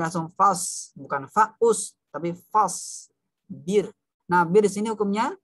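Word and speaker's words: فاصبر: Nah, birnya kalau seperti ini dibacanya tidak diayun ya, Fahri. Wali rabbika fasbir. Birnya tipis.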